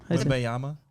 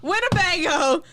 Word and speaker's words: Wembanyama: Wembanyama. Wembyama. Wembyama. Winnebago.